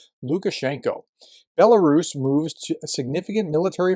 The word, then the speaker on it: Lukashenko: Lukashenko, it's spelled differently depending on who's pronouncing it or spelling it. Lukashenko is how we would pronounce it as English speakers, gave another delusional interview to Russian propagandists.